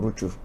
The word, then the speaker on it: Rutshuru: Bon, là, ça j'ai prononcé comme on le dit à Kinyarwanda. C'est comme ça qu'on prononce Massissi, Nirangongo, Nirangongo, Rutshuru. C'est comme ça qu'on prononce à Kinyarwanda.